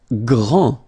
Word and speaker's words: grand: Grand. final D not pronounced. Okay, gr, gr, gr, gr, and then the nasal en, grand.